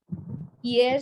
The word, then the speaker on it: hier: Hier c'était dimanche. Yesterday was Sunday. The pronunciation is hier. It's silent.